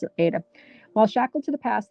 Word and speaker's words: Ada: I pronounce it Ada.